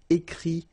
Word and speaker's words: écrit: Okay, remember, you put this T, you don't pronounce it. Écrit, dit.